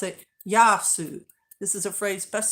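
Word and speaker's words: Γειά σου: those bins and stuff saying hello say yasu pronounce it yasu this is a phrase best suited for informally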